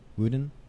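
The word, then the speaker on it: WuDunn: by Nicholas Kristoff and Cheryl how do you pronounce it wudan wuden yes okay half the sky turning oppression into opportunity for women worldwide so this is available at www.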